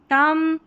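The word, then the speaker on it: thumb: जैसे लैम, थम, com, climb, और ये है बॉम्ब। क्या है? बॉम्ब। B यहाँ पर साइलेंट है।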